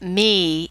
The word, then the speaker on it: mi: It's based on Italian. It's pronounced me, even though it's spelled M-I.